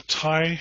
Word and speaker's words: Tighe: name is Tai it's TI G he but it's a well it's an Irish name and so it's a little bit complicated but it's just pronounced simply tie like a a neck tie I am um a